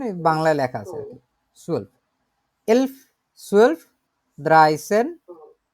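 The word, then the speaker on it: elf: এখন হচ্ছে এর পরের যে নাম্বারগুলো আছে এর মধ্যে কয়েকটা নাম্বার হচ্ছে একটু অন্যরকম ভাবে উচ্চারণ করে, এগুলো হচ্ছে আপনার এখান থেকে শুরু। 11কে বলে হচ্ছে এলফ, 12কে বলে সোলফ, 13কে বলে দ্রাইসেন, 14কে বলে ফিয়ারসেন, 15কে বলে ফুমসেন।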